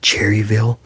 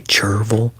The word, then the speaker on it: Cherryville: And And then we have a place called then there's a place called Cherryville and people will say Cherville and I've caught myself